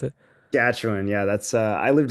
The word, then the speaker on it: Saskatchewan: I think she's from like Sakan or however you pronounce it. Saskatchewan.